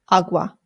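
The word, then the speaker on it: agua: It's awa.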